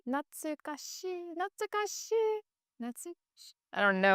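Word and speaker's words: 懐かしい: How to Not pronounce? natsukashii. Natsukashii. Natsukashii.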